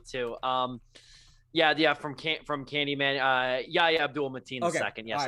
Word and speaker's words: Yahya Abdul-Mateen II: From Candyman, Yahya Abdul-Mateen II.